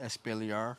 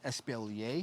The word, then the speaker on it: espalier: So a lot of people pronounce it Espalier because the way it's spelled, but it's actually Espalier.